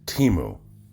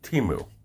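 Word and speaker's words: Temu: been making some noise Teemo not before you pronounce it Timo or Tamil again I didn't see the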